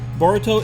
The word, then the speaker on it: Boruto: Naruto's love for ramen boruto is the Japanese pronunciation of the English word bolt this name was most